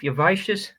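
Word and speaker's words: Iosivas: Yavicius.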